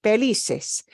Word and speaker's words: felices: between felices and felices we still are punching Li felices it obeys the rule